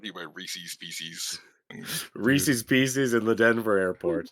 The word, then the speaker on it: Reese's: It's Reese's. It's like the name Reese, and it's like belonging to. It's Reese's. Yes, Reese Today's apostrophe S. Today's podcast is brought to you by Reese's Pieces. Reese's Pieces in the Denver airport.